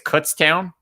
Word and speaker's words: Kutztown: mispronounce this one but I think it's Kutztown is that it k-u-t-z